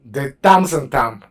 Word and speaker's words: de temps en temps: Now here you make a liaison because you're pronouncing it all together. Otherwise you would say, if you pause, you would have to say de temps en temps. De temps en temps. But you're making a liaison, so you would say de temps en temps.